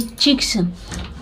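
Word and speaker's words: chick: और इसके लिए क्या हुआ है कि देखिए सी के बाद जब के आए तो वहाँ पे सी साइलेंट हो जाता है, उसको भी क ही पढ़ते हैं, पिक। और ये चिक्स, चिक और एपोस्ट्रॉफी एस, ठीक है।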